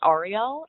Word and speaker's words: Ariel: It's pronounced Ariel.